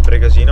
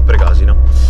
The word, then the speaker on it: Pregasina: Comunque abbiamo scoperto che non si dice pregasina Ma pregasina quindi ho sbagliato per tutto il video ma non importa voi